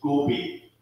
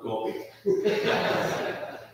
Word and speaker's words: Gobi: It's Gobi, not Gobi. That's the difference between English and Norwegian.